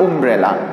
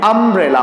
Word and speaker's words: umbrella: तो अगर ये यू से ही अगर हम ये वर्ड को प्रोनाउंस करेंगे तो ये वर्ड जो कैसा साउंड करेगा, उम्ब्रेला। ओके, जो कि क्या है, गलत है, उम्ब्रेला वर्ड नहीं होता है, ये क्या है, अम्ब्रेला वर्ड है। प्रोनाउंस हम इसको किस तरह से करेंगे, अम्ब्रेला, ठीक है।